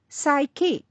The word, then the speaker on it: psyche: letters p s y the letter P remains silent let's look at some